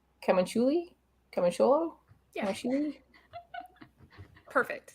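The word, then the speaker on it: Camuncoli: Camunculi?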